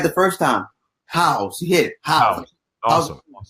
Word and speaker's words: Howze: And it's Howze, right? That's how you say it? You hit it right the first time. Howze.